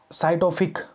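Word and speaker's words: psychotropic: इसका मतलब होता है नारकोटिक नार सॉरी नारकोटिक नारकोटिक एंड साइटोफिक। ठीक है? Narcotic and साइटोफिक substance. ठीक है? नारकोटिक अह एंड साइटोफिक मतलब पी से वह पी साइलेंट होता है उसमें साइटोफिक अह क्या सब्सटेंस एक्ट।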